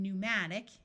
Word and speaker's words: pneumatic: type of flying dinosaur word starting with PN also have a silent P like in pneumatic e says o and